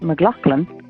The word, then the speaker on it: McLaughlin: And to tell you that in here your surname would be pronounced McLaughlin, not McLaughlin.